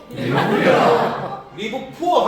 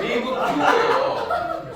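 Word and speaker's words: Live Pure: 리브 푸어 하면 진짜 가난하게 살 수밖에 없어요. 그래서 다시 한번 따라해 볼까요? 리브 퓨어.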